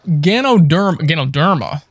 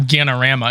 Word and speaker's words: Ganoderma: See, Ganoderma. Not Ganorama.